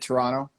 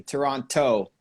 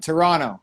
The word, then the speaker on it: Toronto: people who don't know people who aren't from the city always pronounced the last T Toronto and we just kind of we skip over like Toronto it's like an extra extra n or something there at the end so you'd fit in